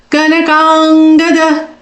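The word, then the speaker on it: कनकाङ्गद: Kanakangada. Ka na. Both are small syllables. Kang. A dirgha and matra.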